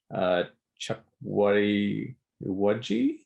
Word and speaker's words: Chukwudi Iwuji: I'm going to take a guess on how it's pronounced. Chukwudi Iwuji.